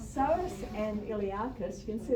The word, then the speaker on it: psoas: femur and that's called psoas psoas you don't pronounce the p it's said you don't have to say pesos source and iliacus you can